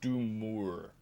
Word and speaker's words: Doomor: I feel like the sec the the fourth O is like do more. Like in my head I thought it was a U first but like D O M O R. I'm kind of want to pronounce do more like like a thing.